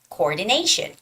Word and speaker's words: coordination: word is coordination coordination the stress has to be on the a coordination and the last word